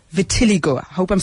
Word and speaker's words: vitiligo: how can it be stopped yes um the pronunciation slightly different it's Vitiligo close yeah Vitiligo and it is an autoimmune condition and what